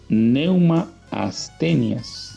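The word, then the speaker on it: πνεῦμα ἀσθενείας: poco y la palabra dice que era un pneuma haz tenias así se pronuncia en griego esa proporción que ese espíritu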